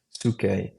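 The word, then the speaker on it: psyche: Suke is how I've heard it pronounced.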